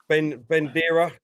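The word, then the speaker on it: Buendía: and that is this player here from Norwich, Bendera. Is that how you say his name? Wendia, Argentine. Buendia.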